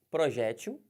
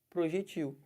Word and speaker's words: projétil: Aqui, ó, projétil, a bala, né, a munição, ou projetil. Os dois estão corretos.